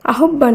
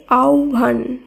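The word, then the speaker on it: আহ্বান: হয় বয় আকার দন্তন্য আহব্বান নয় শব্দটি শুদ্ধ উচ্চারণ হবে আওভান আওভান এখানে হয় ব এর পরিবর্তে ও ভচ্চারিত হয়েছে একই সূত্রে আহব্ববায়ক এটি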